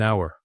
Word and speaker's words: hour: So, an hour.